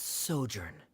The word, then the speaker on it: sojourn: clear uh directors osimos how do you pronounce this word let me see Ah that's sojourn it means to stay for a while this